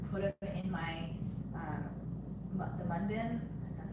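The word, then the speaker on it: Munbyn: I mean, I had the box, I just didn't have time to actually like put them in my, the mun bin, that's how you say it.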